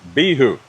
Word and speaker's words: Bihou: Acer Palmatum Bihou. Bro, I heard it's pronounced Bihou, man.